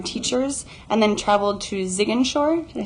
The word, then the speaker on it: Ziguinchor: And she spent the first week in Dakar observing kindergarten teachers, and then traveled to Ziguinchor, did I say it correctly?